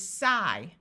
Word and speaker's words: sigh: IGH has a long I sound, so this part is I. So the word is sigh, tight.